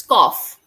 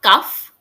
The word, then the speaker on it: cough: Cough, It's cough. cough, It's not cuff, cough, right?